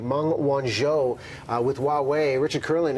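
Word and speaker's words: Meng Wanzhou: the extradition of CFO I gotta get this pronunciation right Mong Wan show with Huawei Richard Kurla an immigration lawyer you're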